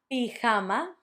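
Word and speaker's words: pijama: Best pama. An easy one. Pama.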